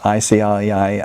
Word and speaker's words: ICLEI: It's the International Council for Local Environmental Initiatives, ICLEI, ICLEI, we pronounce it.